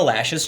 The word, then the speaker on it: Loesch: wish death upon Dana lashes children I always I'm always confused by why her name is Dana lash cuz it's spelled cloche you know and I've always called her that but Twitter Twitter reversed